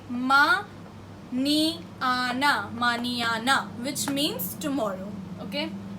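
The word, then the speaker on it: mañana: The pronunciation for this is something like ni, ni. This is N-A and this with tilde is ni. So the example is ma, ni, ana, maniana.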